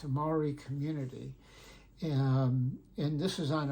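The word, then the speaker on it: Māori: And pretty soon, he said they had, I don't know how many thousands of people, and not just Maoris, but white New Zealanders stood up with the Maoris.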